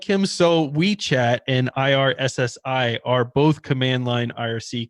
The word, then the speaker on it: Irssi: I think the easiest one to set up is probably Weechat, but IRSSI, and I think it's actually pronounced IRC. I think that's actually how they're supposed to be.